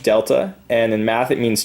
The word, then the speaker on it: delta: Triangle is pronounced delta, and in math it means change in.